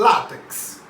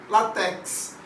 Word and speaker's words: látex: forma errada tá bom por exemplo é o látex látex observe a pronúncia látex tem o acento tudo bem mas muita gente fala látex não é a pronúncia correta é na sílaba